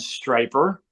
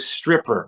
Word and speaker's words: Stryper: player for the band striper and that is spelled why so we people don't confuse it with stripper we're not strippers we're striping I never